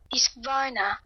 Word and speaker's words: Husqvarna: Well, speaking of Husqvarna, I really liked it when you taught me how to say Husqvarna. Husqvarna. Yeah, Swedish.